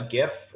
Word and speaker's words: GIF: um i posted uh a gif or jif that's technically how it's supposed to be pronounced but i like you